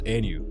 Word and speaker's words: AENU: how do you pronounce Anu Anu is indeed is our own creation and it's all phonetically about the new thing the new era the new day so it's basically it's